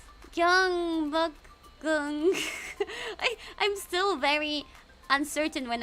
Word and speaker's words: Gyeongbokgung: Gyeongbong. Gyeongbokgung. I'm still very uncertain when I pronounce things, so I feel not so confident.